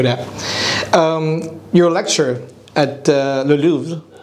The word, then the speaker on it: Louvre: Your lecture at Le Louvre. How do you pronounce it? Well, it's French. In French, I pronounce it like you pronounce it. Louvre. Louvre. Louvre. It's probably Louvre.